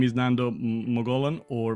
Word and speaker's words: Mogollon: my name is Nando magolan or MoGo as I will pronounce it in my native Spanish language not from Spain though